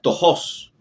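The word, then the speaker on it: πτωχός: y aparece acá un verbo en griego que le que se pronuncia tojos y la palabra tojos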